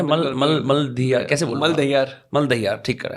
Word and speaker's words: Maldahiyar: सही प्रोनाउंस करा है? मलदहियार कैसे बोल?